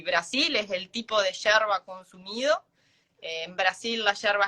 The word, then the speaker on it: yerba: Hierba também se escreve com Y. Ela não fala hierba, ela fala yerba. Isso das palavras que ela falou aí enquanto ela explicou sobre o mate, né?